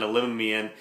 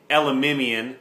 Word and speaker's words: Elimimian: get one interception by Solomon Elian elimimian excuse me I was corrected on that that's how you pronounce it and that's off a